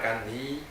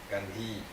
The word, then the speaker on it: Gandhi: Gandhi, you know Gandhi, Mahatma Gandhi. Махатма Ганди. Yes. India. The liberator of India. Освободитель Индии. Mahatma Gandhi. Bad pronunciation, Gandhi. No, Произношение это Gandhi. Ганди. На самом деле Ганди.